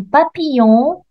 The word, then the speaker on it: papillon: et coccinelle mais un papillon il y a ici je vois le double l mais je ne le prononce pas elle je me prononce